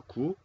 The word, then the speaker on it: 구: Bien, entonces vamos a mirar qué significado tiene en coreano. Vamos a pronunciar ip.